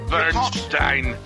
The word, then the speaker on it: Burstein: and source material history doctor Burstein bu rst ein will be pronounced as the following - Bernstein okay doctor first Eve